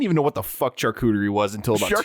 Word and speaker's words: charcuterie: We have curated a fine selection of deli meats and cheeses and charcuterie to go along with these fine One more time.